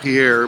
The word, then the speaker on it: Pierre: pier Shale that's uh it looks like Pierre but okay pronounced pier and they were drilling